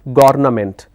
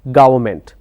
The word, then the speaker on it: government: environment it's environment likewise there is another word government but people pronounce this as governament so governament is wrong it's government now why do people